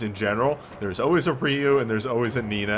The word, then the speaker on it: Ryu: I'm saying it right people have told me like a million times it's either reor Ryu and I stopped care it's Ryu thank you or if you